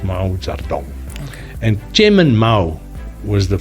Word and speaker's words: Mao Zedong: But you actually write it Mao Zedong, but it's pronounced Mao Zedong.